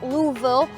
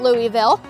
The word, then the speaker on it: Louisville: told by the flight attendants yesterday it is pronounced Louisville not Louisville but we're here to look at an airplane